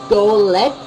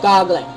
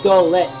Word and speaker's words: Golett: to say it correctly, so it's actually Golett instead of Goglet. It's actually Golett.